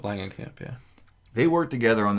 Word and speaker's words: Langenkamp: Is it Langenkamp? Langenkamp, yeah.